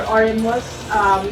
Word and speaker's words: Oremuz: As for Oremus, you could always follow us in Facebook and in Instagram.